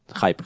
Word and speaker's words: hype: Ese yo tengo mucho hipe. ¿Se dice hipe? Hype. Hype. Se pronuncia hype. Pero se escribe hipe.